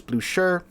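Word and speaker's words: Blücher: video talking about it I was saying Bluer apparently it's blue sh so there you go so the blue Shir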